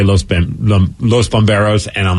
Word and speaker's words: bomberos: Bomberos. You don't need to roll your R's because there's no double R in this word.